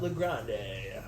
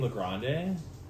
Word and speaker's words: LeGrande: with so yeah and it's legrande I've been saying La Grande okay because everyone pronounces my name wrong people say Legrand that's how I think I introduced you on this no no like my parents say Legrand but like every time